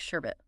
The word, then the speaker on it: sherbet: kind of endearing sherbet ever hear anyone add an extra R like they're trying to make it sound extra delicious absolutely sherbet almost makes it sound more refreshing but I know it's sherbet two syllables exactly light and refreshing